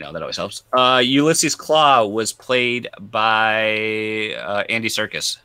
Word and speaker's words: Klaue: arm, he had the claw. Yeah. So Ulysses Claw is spelled Klaue, and then he's also called Claw, Klaw, in the comics.